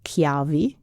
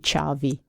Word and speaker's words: ciavi: So usually when there is a CH in Italian, it's a hard K. But in dialect, we don't do that. We do have hard sounds in other words, but CH becomes soft in Veneto.